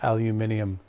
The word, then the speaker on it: aluminium: UK friends I'll will pronounce it the UK way throughout the entire feed which is aluminium there extra letters there but we won't get